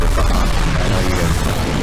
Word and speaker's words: Bahamut: I pronounce it Bahamut. I know you guys are fucking angry and aggravated about that. I pronounce it Bahamut. Bahamut.